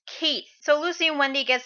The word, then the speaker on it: Keith: priest monk guy named Keith yeah in the first chapter he appeared his name was kissu but it was a apparently pronounced Keith so Lucy and Wendy